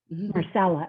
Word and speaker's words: Marcella: uh i believe uh marcella or marcella i'm not sure which way you pronounce it you have a question it is more stella marcella okay you said it correctly let me ask hi